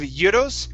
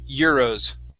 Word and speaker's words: euros: now that last word instead of judos it's year rows give me a good r sound there euros euros very good um